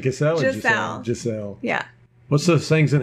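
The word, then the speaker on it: Gisele: like a gazelle anyhow she's pronounced Giselle gazelle what is it Giselle I better learn that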